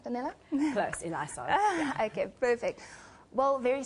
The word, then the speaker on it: Eliasov: I'm hoping I pronounced that right, Danella? Close, Eliasov.